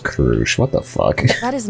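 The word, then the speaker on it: Crusch: I guess they need to hear from all the candidates to at least say the Okay, no, her name is pronounced Krush.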